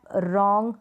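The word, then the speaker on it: wrong: डब्लू से शुरू होगी लेकिन डब्लू बोलते वक्त साइलेंट रहेगा रैप रोंग राइट तो इन सारे स्पेलिंग में आप देख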